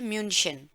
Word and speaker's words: München: English में कहते हैं म्यूनिख और जर्मन में इसको कहा जाता है म्यूनशन, राइट।